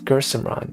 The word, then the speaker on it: Gursimran: It's pronounced Gursimran, right?